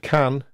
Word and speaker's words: can: pronunciation of the word can but can also be reduced to come I can say what can it do for or what can it do for and this recognition network can